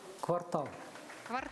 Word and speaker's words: квартал: Присаживайтесь отвечаем всей командой Поставьте правильное ударение квартал или квартал так и ваш вариант квартал квартал на последний слог да давайте узнаем Какой ответ предлагает нам Дмитрий Жарков преподаватель филфаков правильный ответ квартал тал Абсолютно верно и